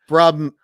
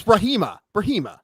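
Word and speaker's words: Brahimaj: Ramiz Brahijma. Brahijma. No, it's Brahima.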